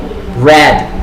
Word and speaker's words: read: a newspaper last week red okay in the past participle is the same thing red so we have read